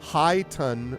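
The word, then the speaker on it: χιτών: High ton with an emphasis on ton.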